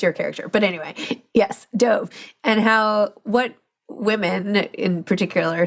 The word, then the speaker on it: Dove: And I pronounce it Dove.